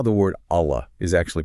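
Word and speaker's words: الله: A Allah.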